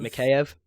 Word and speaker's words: Mikheyev: Mikheyev.